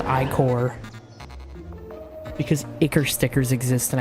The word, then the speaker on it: ichor: I don't care that it's pronounced ichor, because ichor stickers exist, and I think that sounds funny.